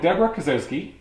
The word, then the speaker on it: Debra Kasowski: So Debra Kasowski, did I say it right?